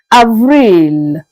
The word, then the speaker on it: avril: Avril. Avril. Again, Avril. Let's go up and see how we pronounce May, the month that we are in right now, that started just yesterday.